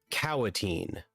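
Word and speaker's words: Kaua'tin: mist glade there is the cowatene that's spelled not the way you think k a u a apostrophe t i n the smallest tribe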